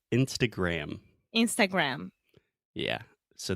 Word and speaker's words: Instagram: US we say Instagram Instagram yeah so the most important thing here gram uh-huh so Instagram close your mouth yes Instagram yeah great